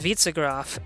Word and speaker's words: Witzegraf: Klotzkov says it's pronounced Witzegraf, stress on the first syllable. Cool. Witzegraf, I'll remember that.